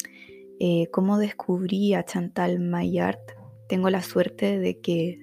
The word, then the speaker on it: Maillard: Se llama Chantal My Art. En la presentación del podcast la presenté como Chantal My Lart, pero luego estuve averiguando y se pronuncia My Art.